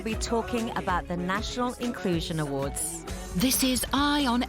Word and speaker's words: Incluzun: Now, we're going to talk about the Inclusion Awards, but now your company it's Incluzun, spelled with a Z, but pronounced Inclusion.